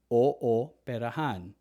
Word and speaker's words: ooperahan: Same with if you have two O's beside each other, you never pronounce it as ooh. It has to be pronounced separately. Ooperahan.